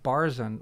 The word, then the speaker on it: Barzun: doubt it's worth covering it is pronounced barzan which is tricky but i learned after